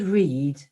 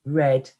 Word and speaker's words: read: the small print whereas the word read can be pronounced as read or read you know and we